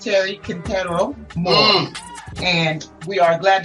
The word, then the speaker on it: Quintero: As Americans would say, it's Quintero Moore. I'm not anal, but the correct pronunciation is Quintero.